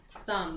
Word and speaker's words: some: is the word some some this is another first-grade word it has that silent e at the end but the word is some if we followed the